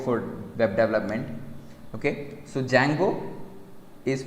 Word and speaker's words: Django: web development okay so django is pronounced as jank o d is silent okay django it's not